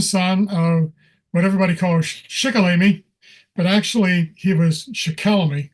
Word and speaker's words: Shikellamy: He was the second son of what everybody calls Shikellamy, but actually he was Shikellamy. Excuse me here a second. Is the pronunciation again from Conrad Weiser's paper. So it's properly Shikellamy and not Shikellamy.